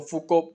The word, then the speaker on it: Foucault: कल माइकल पढ़ना है फोर्ड इसकी स्पेलिंग बनते हैं लेकिन इसको फुक पढ़ा जाता है तो मिसल लोक